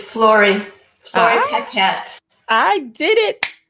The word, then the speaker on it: Flori: to the show so is it flory it's florie i can't i did